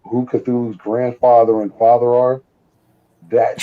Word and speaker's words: Cthulhu: Did you ever see like the history, like who Cthulhu's grandfather and father are?